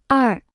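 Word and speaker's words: 二: repita en voz alta ar ar ar ar ar ar ar se pronuncia con el cuarto tono tres escuche y repita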